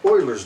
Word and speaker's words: Euler: And E is sometimes called the exponential number, or sometimes it's called Euler's number. His last name began with an E, because in German the EU is pronounced Oi.